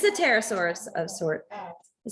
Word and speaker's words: pterosaur: i think it's the pterosaurus pterosaur the t is the p is quiet it's still silent right what the heck is